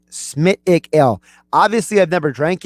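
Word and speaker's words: Smithwick's: By the way, Tom and Margate tells me it's I'm basically pronouncing the whole thing wrong. It's a Smithwick Ale. All right, Smithwick Ale.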